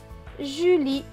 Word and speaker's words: Julie: Le E à la fin est écrit en bleu, du coup il ne se prononce pas. Donc ce mot va se lire ju, li. Julie.